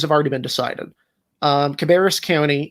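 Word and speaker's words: Cabarrus: just mentioned North Carolina 8 includes uh fville cabus County uh I pronounced that wrong correct me yeah Cab County cabis County which is uh a rapidly growing Suburban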